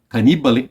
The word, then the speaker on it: Cannibale: O último Mondo Cannibale, o Cannibale, Cannibale, essa é a pronúncia, porque é italiano isso, né?